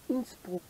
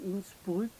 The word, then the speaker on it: Innsbruck: Alors aujourd'hui, je vous amène en balade à Innsbruck, ou Innsbruck, comme on dit, comme on prononce en français.